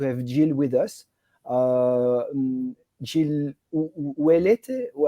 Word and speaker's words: Ouellette: Jill Ouellette, how do you pronounce?